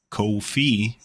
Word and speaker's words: Ko-fi: And we prefer it if you do it on Coffee because there are less fees, which is why they are called Co-Fee, because it rhymes with no fee.